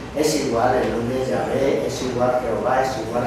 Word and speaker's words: Yahvé: ¿Y cómo pronunciaban esto los judíos? Los judíos lo pronunciaban Yahvé.